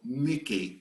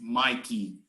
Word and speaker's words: Mickey: the consonants understand so only if i have a double consonant after a vowel i'm not going to pronounce it like in the alphabet okay understand this yes i always say if it's too hard to remember everything remember mike and mickey and every time you are in doubt think mike welcomes me vowel consonant consonant so mickey i cannot pronounce mikey okay it's mickey like mickey mouse all right you can